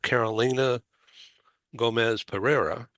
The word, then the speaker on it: Carolina Gomez Pereira: I'm very happy to have Carolina Gomez Pereira.